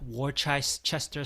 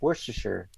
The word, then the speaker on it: Worcestershire: about this a little bit like yeah that war Chester sauce is in like Worcestershire where Chester how do you pronounce it Worcestershire that's some weird thing it's